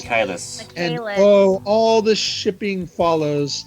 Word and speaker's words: Michaelis: A Faustian contract with his demon butler Sebastian Michaels. Michaelis.